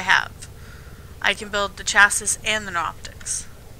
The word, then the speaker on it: chassis: nics that i have i can build the chassis and the optics it's it's it's pronounced chassis okay um yeah which means we just